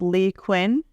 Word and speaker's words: Leigh Cuen: H by the way my name is pronounced Lee Quinn okay yeah I know